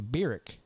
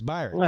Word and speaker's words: Byron: I think I've been calling you Birick, but it's Byron.